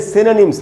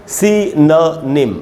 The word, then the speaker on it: synonym: इसको पढ़ना चाहिए दोस्तों सिनोनिम, इसको सिनोनिम नहीं पढ़ना चाहिए। शुद्ध उच्चारण सीखना बड़ा ज़रूरी है, तो इसका करेक्ट प्रोनाउंसिएशन है सिनोनिम।